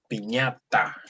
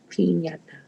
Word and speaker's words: piñata: Basically, in Spanish, we divide the syllables with a consonant and a vowel. So tell me, how many syllables does this word have? Is it 3? Yes. Piñata. Mm-hmm. P, ña, ta.